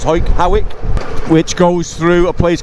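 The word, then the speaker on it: Hawick: through back to hike it's all pronounced it's pronounced Howick which goes through a place called Kappa Clerk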